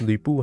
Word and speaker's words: 吕布: What a strong naming sense Lu Bu has.